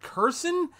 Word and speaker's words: Kherson: They've had a major victory in the fact that, I believe it's pronounced Kherson, they've taken back that city, which is always good.